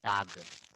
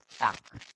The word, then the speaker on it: Tag: Tak. No, they don't say tag. Tak. German people, they pronounce tak. Tak. Ko sound. Ending G is ko sound.